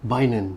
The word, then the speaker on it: Bainon: Bainon. Yeah. Don't ask me how, but yeah, the pronunciation memang Bainon.